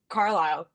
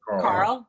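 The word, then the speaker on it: Carle: And I think that that could scare like I don't think uh David Carile, is that how you pronounce it? Carl. David Carl.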